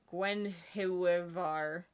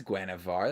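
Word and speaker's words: Guenhwyvar: is there it is gwen hiwavar oh that's gwynevar that's how i would read that gwen however when there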